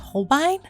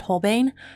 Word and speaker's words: Holbein: personal preference and those are I guess it's pronounced Holbein okay funny story so I would always frame this at home bane but then I was actually my friend introduced